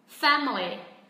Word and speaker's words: family: Family. Hoặc một cách thứ hai, khi người bản xứ nói nhanh, họ sẽ chỉ còn có hai âm tiết, đó là family. Family.